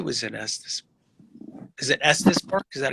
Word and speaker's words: Estes Park: Is it Estes Park? Is that how you say it? Yep, Estes Park.